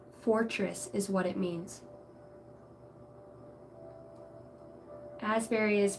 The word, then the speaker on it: Asberry: SB r y Fortress is what it means Asberry is pronounced a zberry the old English origin and it is used